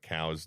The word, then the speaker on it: Coues: Coos deer is the mispronunciation of cow's deer, Mm-hmm.